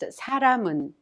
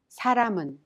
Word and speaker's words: 사람은: The final consonant mium in ram of 사람은 is prolonged with 은 and is thus pronounced 사람은. 사람은.